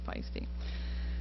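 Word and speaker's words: Paiste: under its own name this pronounced pisty looks like paste but it's pisty so I'm going to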